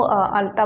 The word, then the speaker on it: अलता: बट यस मैं यह जो अलता है ना इसको अलता बोलते हैं ओरिया में प्रॉपर अगर प्रोनाउंसिएशन करूं तो अल ता इस तरह से इसका प्रोनाउंसिएशन होती है तो ये आपने